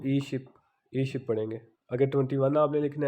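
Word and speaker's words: 이십: तो आगे 20 को ई शिप पढ़ेंगे।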